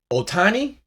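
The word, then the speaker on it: Ohtani: Dodgers is up 20 Otani that's how you say his name Otani soon as he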